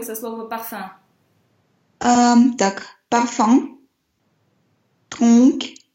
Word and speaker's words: tronc: Tronc. Только К не читаем. После носовых звуков... Вообще К читается на конце слова, да, вот это С, но после носовых нет.